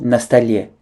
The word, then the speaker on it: на столе: Faites attention à bien prononcer comme un seul mot на столе.